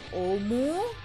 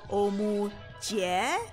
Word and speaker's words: Omuji: Oh, you can just call me Omu. Some people say Omuji, which is okay too. But originally it was pronounced Omu Jie.